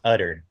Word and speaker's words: Utter: Utter? Um it's actually pronounced Utter.